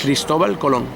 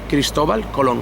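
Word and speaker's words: Cristóbal Colón: How do you say in Spanish? Cristobal Colón. Cristobal Colón. Cristobal Colón. So not Columbus, Colón. Colón. Well, It's a big difference.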